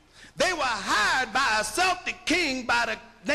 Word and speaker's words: Celtic: pits these were called Celtic people it's spelled c l t they spell it Kel these are Irish the